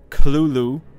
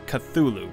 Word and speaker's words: Cthulhu: Lovecraft himself gave several differing pronunciations of the creature's name throughout his life, including Cthulhu, with a heavy guttural first syllable. The most common pronunciation, however, is Cthulhu, popularized much later after Lovecraft's death.